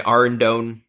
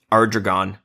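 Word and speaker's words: Ardougne: went and got my Ardone. I always pause after they say that because for like 10 years, do you want to know how I pronounced Ardone? How? Ardragon.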